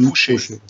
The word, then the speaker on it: Fouché: Ich glaube, so spricht man es richtig aus. Jörg, du kannst mich gern korrigieren, ne? Josef Fauché. Fauché. Fauché. U ausgesprochen im Französischen. Fauché.